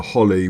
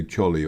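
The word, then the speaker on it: Choli: you'd say chulu and Holly we just drove through if you just read that you'd probably say cholly or something like that but the CH followed by the O the C is silent now we're coming up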